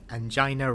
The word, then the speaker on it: angina: Angina rhymes with vagina.